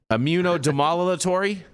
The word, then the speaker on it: immunomodulatory: Immunomodulatory? Modulatory. Immunomodulatory. Okay. I can see that. No D, just modulatory. There is a D in there. Yeah, but don't pronounce it before the M.